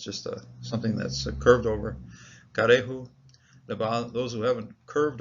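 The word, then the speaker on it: כרעו: There's a metech here, which suggests, and I think that's the case, that this Shiva is chopped away from this particular syllable, so it has its own syllable over here. Rather than closing the syllable, it's karehu, and those bending over, bowing over, those.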